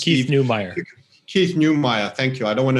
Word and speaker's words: Keith Neumeyer: Keith Neumeyer, thank you.